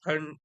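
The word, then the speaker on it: ठं: तर ठम त्यावर अनुस्वार आहे आणि पुढे ठ आहे म्हणून ट, ठ, ड, ढ, ण. तर ते उच्चारण असलं पाहिजे. ठण, ठण, ठण, ठण, ठठण, ठण, ठठठण, ठठण.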